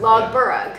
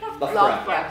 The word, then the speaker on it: Loughborough: Okay, so we would say, I would say log. Well, I know how to say it the right way. Burg. Logburg. Yeah. Right? And it's. The correct one is? Loughborough? Yeah. Loughborough. So I've been here, but we would say.